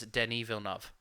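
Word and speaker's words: Denis Villeneuve: pronounce his name as danny vilnov that's how you pronounce his name that's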